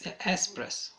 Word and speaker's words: espresso: It's not accent. It's just there is no K. It's espresso. Okay, noted.